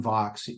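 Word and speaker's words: Vaux: they're called well voxis with John Vox he pronounces it Vox Swift's return and this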